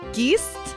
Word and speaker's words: geest: Okay, because I know you like ghost, so you gotta know how to pronounce ghost in Dutch. Geest?